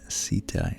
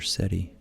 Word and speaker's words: Ceti: Beta in the Whale, is the constellation Ceti, or Ceti, C-E-T-I.